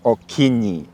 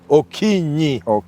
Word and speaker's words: Okinyi: Can you now pronounce it? My name is Okinyi. Okinyi, yeah, that is my name.